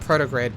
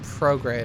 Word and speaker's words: prograde: Now we can go not protograde, prograde. My gosh, I have been saying it wrong this entire time.